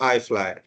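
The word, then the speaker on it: IFLY: 6E हमेशा नहीं बोलते हैं, that is also you can read eight 6E, बट आईटा code में इसका प्रोनाउंसिएशन है आई फ्लाई।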